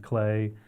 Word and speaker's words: Clea: I know that Clea is pronounced Clay, the artist, and that's about it.